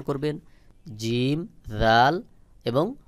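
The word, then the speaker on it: ذال: এরপরে রয়েছে জাল। জাল এবং সা মুখের একই জায়গা থেকে উচ্চারণ হয়, তবে জালের উচ্চারণ পাতলা করে উচ্চারণ হবে, যেমন জাল জাল।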